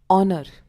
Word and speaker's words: honor: Now comes honor. We spell it as HONOR, but we say it as honor instead of honor.